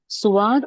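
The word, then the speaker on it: صاد: तो उर्दू में भी नहीं कहते हम स्वाद या दुआद, हम उर्दू में भी नहीं कहते, उर्दू में भी स्वाद कहते हैं।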